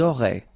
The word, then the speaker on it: auraient: Elles auraient. And then look, if you've got A-I-E-N-T, then phonetically it goes like aurait.